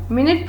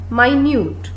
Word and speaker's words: minute: आई am sure आप लोगों में से 99% ने इसको मिनट प्रोनाउंस किया होगा और यह सही भी है। बट मैं आप लोगों के आगे एक लाइन लिखती हूँ और लाइन है आई कैन C dash particles on the water surface. तो अब गेटिंग कंफ्यूज्ड, और हो भी क्यों ना, क्योंकि same word same spelling but ये बन गया माइन्यूट।